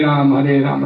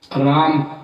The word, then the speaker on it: राम: तो कृष्णा तो द्रौपदी का नाम है, राम का नाम रामा नहीं है, राम है।